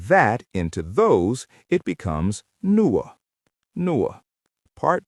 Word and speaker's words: nuo: And to make that into those, it becomes nuo.